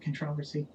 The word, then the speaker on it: controversy: way Richard that's that's that's the way to pronounce that controversy uh my stroke I must confess was the